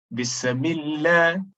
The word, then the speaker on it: Bismillah: Then, in excess of the sifatu sin, as though there is qalqalah in sin. Bismillah.